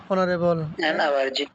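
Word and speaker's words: honorable: যেমন আওয়ার, তাহলে এর উচ্চারণ কী হবে? An hour. অনারেবল, এন অনারেবল, মানে এন অনারেবল পরে একটা শব্দ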